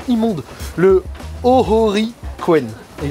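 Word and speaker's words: Ōhori: Et là on va rentrer dans le parc qui s'appelle le Hori. Putain, la prononciation immonde. Le Ohori Koen.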